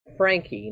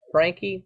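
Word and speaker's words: Franke: Star pictured here Ruby Frankie now I've heard that name pronounce Frank and Frankie but I've heard herself say Frankie so that's what I'm going to refer to she is the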